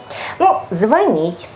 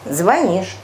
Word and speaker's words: звонить: слышим и производством по-другому правда заржаветь это правильное ударение звонить звонишь звонят здесь я думаю уже даже школьники вас и